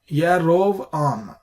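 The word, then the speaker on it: יָרָבְעָם: Now, for example, here we have Yarovam, that is Jeroboam. So here we have the qamats and the syllable is closed, Rav, and here we have the accent in the next syllable. Therefore, Yarovam.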